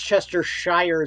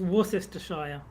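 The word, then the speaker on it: Worcestershire: English uh pronunciations uh s-h-i-r-e to me that reads Shire but they they say she they say sure yeah that's the reason why it's worse Chester Shire sauce it's War sister Shire yes worse Chester Shire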